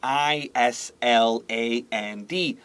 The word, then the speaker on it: island: Maybe you know the word ISLAND, island.